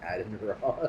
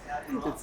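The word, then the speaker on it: Adin Ross: It was made much funnier by the fact that you pronounced Aiden Ross. It's not pronounced Adam Ross.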